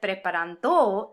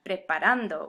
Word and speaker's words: preparando: disturbance in the force so in default mode this word wants to be pronounced preparant with the emphasis on the second to last syllable the problem of course is that preparanto isn't a word at least not any